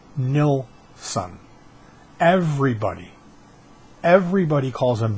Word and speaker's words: Nilsson: whole story here his name is it's not pronounced Neal son it's nil son everybody everybody calls him Nielson Lennon called him Nielson it's Nelson and it